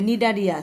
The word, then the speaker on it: Cnidaria: তারপরে নিডারিয়া, সিটা উচ্চারণ হবে না, CNIDARIA।